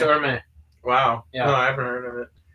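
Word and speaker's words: Hermès: It's spelled exactly as Hermes, is it not? Oh, it is. Yeah. Oh. They just call it Hermes.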